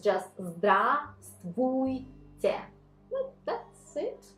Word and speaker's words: Здравствуйте: It's like Здравствуйте, but we do not, thanks God, we do not pronounce the first one. So it's just Здравствуйте. Well, that's it, right? Здравствуйте.